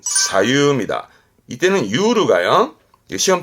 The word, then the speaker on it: 左右: 요게 중요한데요 좌우 그죠 좌우 발음은 사유입니다 이때는 가요 시험 때